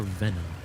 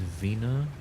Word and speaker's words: Vena: Vena or Venom? I know it's spelled with one E, but is it? Oh, it's Vena.